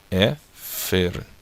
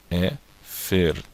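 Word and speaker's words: אֵפֶר: Depois eu pronuncio aqui o som do F, depois o som do E, e depois o som dessa consoante, que é a letra resh, o som do R. Então fica Efer, tá? Efer.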